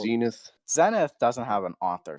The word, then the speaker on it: Zenith: So right here, he And says Zenith. It's pronounced Zenith.